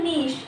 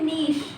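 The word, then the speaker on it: niche: So next is ecological नीश। इस word को क्या पढ़ते हैं, इस वर्ड को पढ़ते हैं नीश, प्रोनाउंसिएशन है ये, ठीक है।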